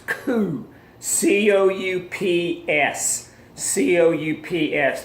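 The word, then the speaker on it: coup: like it spilled it's coo coo UPS CEO ups the P is silent you know Kyle out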